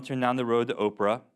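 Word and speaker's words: Ophrah: down the road to Oprah I'm not kidding he says Oprah there it doesn't spell it the same way but it says Oprah it's Atlantis you all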